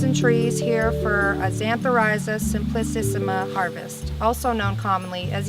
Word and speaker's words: Xanthorhiza simplicissima: We're in here amongst the woods and trees here for a Xanthorrhiza simplicissima harvest, also known commonly as yellow root.